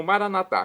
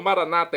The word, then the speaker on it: maranata: E agora eu clamo Maranatá, como dizemos nós católicos, ou maranata, é como dizem nossos irmãos das comunidades evangélicas ou protestantes. Não importa, a pronúncia, o significado é o mesmo.